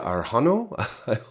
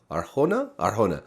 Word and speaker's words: Arjona: Adria Arjano? Arjona. I always say her name wrong.